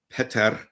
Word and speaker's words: Peter: But uh in during this trip I got the exact pronunciation right. It's Peter and you got to have that role in there.